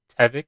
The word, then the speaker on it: Tevfik: His name is Tevik. It's spelled Tevfik, and he's a really cool guy too.